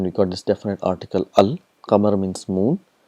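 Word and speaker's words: القمر: For example, we have qamar, and we got this definite article al. Qamar means moon. So when you get al plus qamar, it becomes al qamar. So all the letters are pronounced clearly, al qamar.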